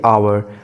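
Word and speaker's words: hour: जैसा कि आवर, इसमें एच साइलेंट है, इसलिए ये ओ से स्टार्ट हो रहा है तो इससे पहले एन आएगा।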